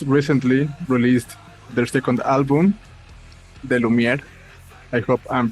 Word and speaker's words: De Lumière: Okay, they are from the band NEBULAE Come Sweet, a Belarusian band who just recently released their second album, De Lumière. I hope I'm pronouncing correctly the name.